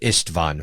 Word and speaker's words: Isstvan: upon the blood encrusted surface of Istavon 5 of Ishtvon 5. We got to do Marquy's pronunciation cuz it's nicer.